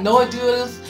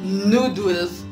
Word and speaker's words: noodles: then he was like no we say neutrals like moon noodles I felt embarrassed and